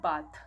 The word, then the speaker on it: bath: পরিষ্কার হওয়া পরিষ্কার হওয়া একটা আমি উচ্চারণ করছি বাথ বি এ টি এইচ আরেকটা উচ্চারণ করছি বেদ বি এ টি এইচ ই বাথরুম আমরা সবাই জানি